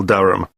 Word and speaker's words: Durham: how do you spell Durham d-u-r-h-a-m of course I should know that but it's just one of those names that sounds quite different from the way you spell it it is confusing I've